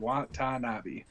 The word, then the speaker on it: Watanabe: Was Watanabe. amazing. Watanabe. Watanabe. Watanabe. Yeah. Watanabe. Yeah. Just like it's spelled. Watanabe.